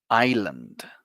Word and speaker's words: island: example like you don't you don't pronounce the s with this word repeat after me one more time Island there you go there